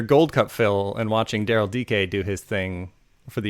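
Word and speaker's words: Darryl Dike: your Gold Cup fill and watching Daryl DK do his thing for the United States. Oh, is that how you say his name? DK, not Dyke. Yeah, it's Daryl DK.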